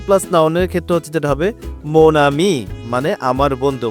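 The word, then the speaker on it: mon ami: plus noun pauses plus নাউনের কষেত্রে যেটা হবে মোনামি মানে আমার বন্ধু ম নামি আমার বন্ধু এক্ষেত্রে হচ্ছে ওনের উচ্চারণ ও নাকের মধ্যে হবে ম আর আমি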